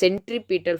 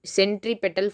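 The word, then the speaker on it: centripetal: Acceleration is called a சென்ட்ரிபீட்டல் force. இந்த வகையான ஃபோர்ஸை வந்து ஆக்சலரேஷனுக்கு கொடுக்கும் போது, இந்த வகையான ஃபோர்ஸ் வந்து ஆக்சலரேஷன் கொடுக்கும்போது அது வந்து சென்ட்ரிபீட்டல் ஃபோர்ஸ்னு சொல்லுவாங்க. சென்ட்ரிபீட்டல் force, சென்ட்ரிபெட்டல் force. Actually சென்ட்ரிபீட்டல் தான் ப்ரொனவுன்ஸ் பண்ணணும். about which you have learned in class 9.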